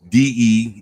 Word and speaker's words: Degaton: how Megatron is spelled but degaton spelled exactly how it sounds like I guess if